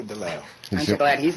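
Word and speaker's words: DeLeeuw: lisa deleo right oh some people call it lisa deleuze the correct pronunciation pronunciation is lisa delau i'm glad he's not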